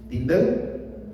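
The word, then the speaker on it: Tyndale: Uno que fue Guillermo, ¿cómo se pronuncia? Tindado. Tindel.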